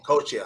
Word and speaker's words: Coscia: course I asked you earlier about how you pronounced your name bro and I mean your last name coacha I mean I would have chopped it up